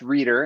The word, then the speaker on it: Rueter: well first of all the last name is pronounced reader and we're there we